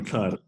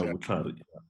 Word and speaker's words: Vutlhari: To just correct me on the pronunciation. Vutlhari. Yeah, Vutlhari.